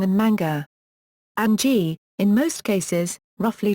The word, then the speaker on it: mga: The genitive marker NG and the plural marker MGA are abbreviations that are pronounced nang and manga.